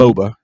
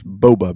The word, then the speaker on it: boba: So this bubble tea it's company, Boba. No, you're right. It's Boba.